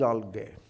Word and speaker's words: algae: Shaivala is algae. Algae? Algae, okay, let me say algae. Not ga, ja, okay, algae.